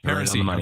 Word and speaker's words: Paracy: Pariseau.